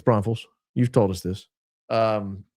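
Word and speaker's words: Braunfels: I don't know why people were saying it wrong. People were People were Bronfells. Bron I mean, they sounded ludicrous. It's Bronals.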